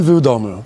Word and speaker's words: w domu: I was like, ramen W domu? All right. Ramen vu domu.